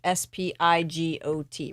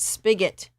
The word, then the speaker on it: spigot: spigot outside it's spigot it's spelled sp s-p-i-g-o-t right yes so it's pronounced spigot anyway even though we